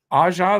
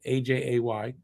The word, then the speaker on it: Aja: But look up Aja. That if you're English, it's AJ, AJAY, but it's pronounced Aja.